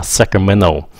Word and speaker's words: Sacramento: Now, người bản xứ, người ở thành phố của mình nó không có cái bằng Sacramento. Họ đọc là Sacramento. Họ bỏ cái âm T ra luôn.